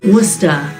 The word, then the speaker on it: Worcester: of the same name but wer Massachusetts with a population of 207,000 pretty much has the same pronunciation in fact with this being Massachusetts many locals even leave off the r like we do in Britain wer this might be where